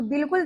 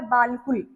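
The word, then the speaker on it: بالکل: वैसे ये लिखा हुआ है बालकुल। लेकिन हमने क्या पढ़ना है इसको? बिल्कुल। लाम को अलिफ को साइलेंट कर देना है। बे को पढ़ना है। लाम के साथ बिल और प को पेश कु और ल।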